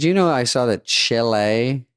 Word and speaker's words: Chile: Did you know I saw that Chile, you're saying it wrong. Chile. Chile.